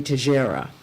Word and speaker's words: Teixeira: I mean, I just feel that they're mispronouncing it, because if I go with the Portuguese, it would be Teixeira. Always with the Portuguese. Oh, that sounds right.